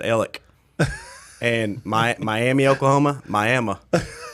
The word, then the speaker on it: Alex: town right beside us it's spelled alex they pronounced it ellick and my miami oklahoma